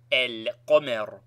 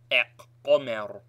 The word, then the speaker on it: al-qamar: with one of them, the lam of alif lam is pronounced and carries sukun, e.g. al-qamar, and not aq-qamar.